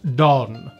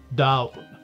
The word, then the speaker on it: Donn: ulster irish it's pronounced dawn as in the dawn coolly from the tour in connacht irish it's pronounced dull as in not really anything and in Monster Irish it's pronounced dau and seeing as down